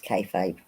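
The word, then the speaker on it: kayfabe: lot of feet in them oh TJ pronounced it right the first time it's kfabe yay I did it right okay never heard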